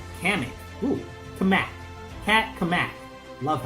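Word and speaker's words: Cammack: Kamak.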